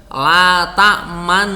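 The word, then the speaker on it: لَا تَأْمَنَّا: Jadi la ta'manna begitu. Jadi itu biar aslinya itu biar bunyinya la ta'manuna. Tapi di situ ndak ada huruf nunnya, dibunyikan ini gimana gitu. Maka diucapkannya menjadi seperti itu. Ada gerakan bibirnya, tetapi tidak ada bunyinya. La ta'manna begitu. Ya.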